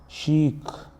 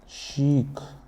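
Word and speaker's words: chic: बहुत इंपॉर्टेंट है इसलिए सी एच आई सी शीक ये चीक नहीं है ये क्या है शीक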